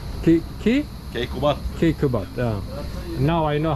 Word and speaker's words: Keykubat: Alaaddin Keykubat. Ki? Keykubat. Kekubat.